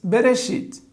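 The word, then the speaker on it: בראשית: então nós temos bereit berechit quantas sílabas tem na palavra berechit temos que contar as vogais uma vogal duas vogais portanto duas sílabas a semivogal simples não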